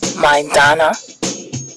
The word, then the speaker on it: Maidana: mayweather jr and marcos say his name zola my donna i kept saying it wrong and zola kept correcting me that's okay wow what